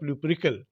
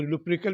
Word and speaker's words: Lupercal: The feast of लुपरिकल। अच्छा, इसको लुपरिकल भी बोल सकते हैं, लुपेरिकल भी बोल सकते हैं, दोनों प्रोनाउंसिएशन राइट है।